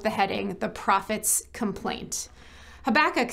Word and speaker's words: Habakkuk: A prophet, a book in the Bible, we sometimes call Habakkuk, or as it's pronounced by some, Habakkuk.